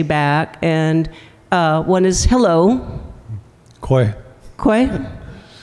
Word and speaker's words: kweh: Kwe.